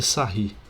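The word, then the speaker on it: Sarrus: é a regra de sair né eu vou até escrever aqui em cima a regra de como se escreve sarros né mas a pronúncia em francês é sair ok e essa regra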